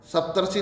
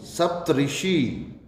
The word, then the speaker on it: सप्तऋषि: सप्तर्षि, सप्तर्षि नहीं, सप्तऋषि, सप्तर्षि नहीं, सप्तऋषि होगा। 7 ऋषियों का समूह सप्तऋषि, सप्तऋषि दोनों एक साथ शरीरों का बांध के लिखे जाएंगे।